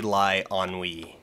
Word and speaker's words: Eilonwy: I spelled it yeah it's basically like a lie on we now I am almost